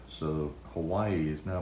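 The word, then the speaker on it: Hawaiʻi: hawaiian letter um and it symbolizes a guttural stop so hawaii is now pronounced why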